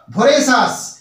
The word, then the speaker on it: voracious: একটা শব্দ লিখেছি VORACIOUS, উচ্চারণটা কি হলো ভোরেসাস।